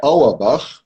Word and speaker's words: Auerbach: A pronúncia do meu sobrenome é Auerbach, e Auerbach, assim, só um momentinho, significa o Ribeirão do Vale, de Au.